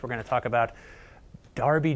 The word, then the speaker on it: Derby: pronunciation here's what it looks like looks like Derby G but it's not it's pronounced Darby jail and we're going to have a Little